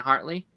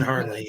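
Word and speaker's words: Hartley: new show called like tracker with um Justin heartley or or or am I getting that name wrong Justin Hardley yeah okay I know what you're talking about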